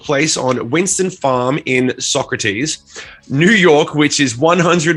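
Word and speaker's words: Saugerties: This festival took place on Winston Farms in Saugaters. How do you say it? Saugaters, saggy tits, Sagitters, sausages, New York, some fucking sog town in New York. Socrates. I never would have guessed Socrates.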